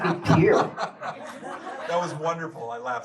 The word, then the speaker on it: Pierre: Thank You pronounced it Pierre as you're reading, and you pronounced it Pier. Was that on purpose? Yes. I love that you did that. Well, my family's from Louisiana. Of course, they spoke French. So So it would be Pierre.